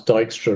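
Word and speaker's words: Dijkstra: Well, I mean, Dystra does have the cooler name, and you get extra nerd points if you pronounce Dystra right because it's totally not spelled like that.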